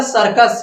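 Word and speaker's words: circus: सी का उच्चारण क्या इस सी का उच्चारण क्या हो यहां पे सा है क्या है सा है बेटा क्या है सा है अब देखिए सी का उच्चारण यहां पे क्या है सा है हमने आपको क्या कहा कि देखिए सी का उच्चारण सा भी होता है और क्या होता है का भी होता है तो आपको दिखाए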